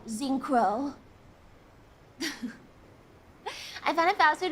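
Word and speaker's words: Zinkro: name wrong yeah yeah I always call them zinco with a z or with a k z i n k r o zinc Crow I found a fast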